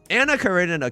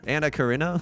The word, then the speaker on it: Anna Karenina: Anna Karenina could never. Anna Karina? How do you pronounce it?